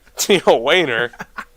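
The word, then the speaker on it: Tijuana: Tia Wayner.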